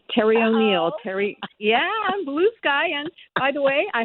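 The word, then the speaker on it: Bluesky: O'Neal Terry yeah I'm Blue Sky and by the way I had to tell a friend of mine who is from Brooklyn no it's not pronounced blue ski it's blue sky obviously a Beer Drinker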